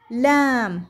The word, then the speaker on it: lamb: Lamb هنا أيضا البي لا تلفظ وهو الخروف الصغير.